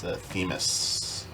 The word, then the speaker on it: Themis: And just make a note of the pronunciation for the character. It's this character. It's Themis.